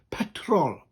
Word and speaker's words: petrol: here petrol and uh in welsh it's the same as the english word petrol but with the rolling arse and a sharp t petrol petrol petrol oh yeah